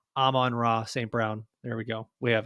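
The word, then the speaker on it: Amon-Ra St. Brown: they can't just stop am manra St Brown to to stop did I say it correctly no on Raw St Brown there we go we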